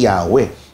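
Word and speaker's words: Yahweh: Kinuha yung mga patinig o tunog patinig din ng adun nilagay doun sa YHWH. Kaya eventually yun yung universally accepted na pronunciation eh Yahwe dahil nga isinal naman ito sa ibang wika.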